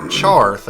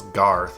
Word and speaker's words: Charth: My uncle Charth actually sent me a letter. Charth, it's your uncle. Yeah, it's funny. I always thought his name was Garth. I've been pronouncing it wrong all these years.